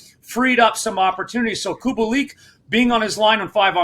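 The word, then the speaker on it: Kubalík: purr on cop prawn specifically has really helped kubolik uh kubalik sorry uh a guy that you know we're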